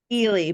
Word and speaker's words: Ely: is your last name Ely how do I pronounce it Haley but I'll go buy anything it's fine I